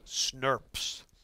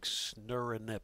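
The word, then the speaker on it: snRNP: Even though it totally doesn't make any sense, scientists like to call these things SNRPs, pronounced like this. If you really read it, it's like snurinip or something like that. SNRP sounds a lot better.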